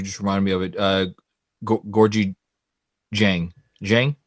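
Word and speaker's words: Gorgui: Gorgie Jang, right? Gorgie Jang. Gorgie. I always want to say Georgie.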